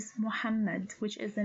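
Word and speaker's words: محمد: The third one starts with the moved meme with the fatha and ends with the dal which has sukun. So this name is pronounced as Muhammad. Muhammad.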